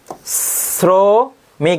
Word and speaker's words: শ্রমিক: রাখবে যেমন এখানে শ্রমিক শ্রমিক দেখো উচ্চারণটা কার মত হচ্ছে ছ এর মত এরপরে আসতে পারে দেখ